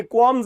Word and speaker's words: qualms: And yet there are so many regrets in our life, so many qualms in our life. ये एक नया word है, सीखिए इसको, qualms. QUALMS, L साइलेंट है, qualms.